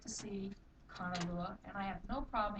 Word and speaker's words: Kanalua: Because Kanalua has a kahako or the a. Say it Kanalua. So when we say it Kanalua instead of Kanalua. It's a totally different.